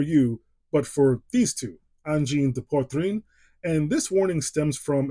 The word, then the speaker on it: Angine de Poitrine: Anyway, this right here is the brand new album from Angine de Poitrine, or as these two would pronounce it, Angine de Poitrine.